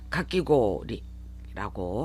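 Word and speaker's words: かき氷: 그래서 또 하나 발음상에 고오리, 이렇게 고오리가 아니라 고를 길게 발음하는 장음화 현상까지 일어나요. 그래서 가끼고리라고 하셔야 합니다.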